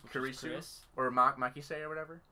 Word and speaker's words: Kurisu: which he doesn't say Chris. Right. Because that's her last name. Kurisu, not Chris. Yeah. We talked about this too. That's how the Japanese pronounce Chris, because they can't say Chris, they say Kurisu.